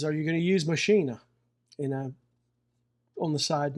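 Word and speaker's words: Maschine: Thing is is are you going to use Machina? And I on the side note, I believe from what I understand it is pronounced machina, not machine, even though it looks like it with an e on it.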